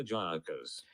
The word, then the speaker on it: Gyökeres: How do you pronounce his name? Viktor Gyökeres.